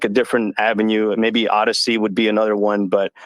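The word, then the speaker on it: Odysee: like anyone that has a homophone for a brand name is so why do i have to why do i have to spell the word odyssey because you guys chose to misspell it and make it your brand so o d y s e e is how you spell their odyssey because they don't know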